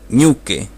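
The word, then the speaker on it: ñuke: escuchemos decir ok y puede ser que escuchemos también decir new qué por eso no vamos a usar la tilde para escribir los acentos porque van a cambiar según la región escuchen cómo se pronuncia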